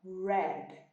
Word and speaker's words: red: Terminou em consoante, o som é esse mesmo, deixa no ar, ok? Então, red.